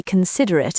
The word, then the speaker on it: considerate: Julian was not very considerate at 3:00 a.m. No, he was not. But he learned to be considerate is a virtue. Pronunciation considate stress on the second syllable.